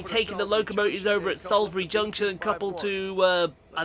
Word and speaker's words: Salisbury: __ ] I know Sal Salsbury Salisbury it's Salsbury the eye is silent Salsbury yes Salsbury you